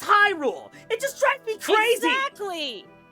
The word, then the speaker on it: Hyrule: It It's not Hule. Yeah, it's not Hule. It's Hyrule.